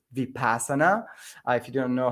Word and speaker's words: vipassana: if you want to check it out it's vipassana if you don't know how it's spelled so it's v-i-p-a-s-a-n-a and it's a center